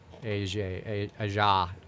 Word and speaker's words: Aja: I got corrected today because it's like it almost looks like AJ, like the way it's written. Right. So that's how I pronounced it. And like very quickly, it was like, it's Aja.